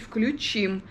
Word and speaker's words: включим: телевизор а не включим правильно говорить включим потому что ударение включить на последний слог Так что включим телевизор